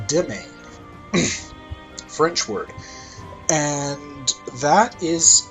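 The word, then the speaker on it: demesne: this is domain size it's not pronounced uh dem seen even though it looks that way and it's not actually pronounced in domain either it's dimming french word and that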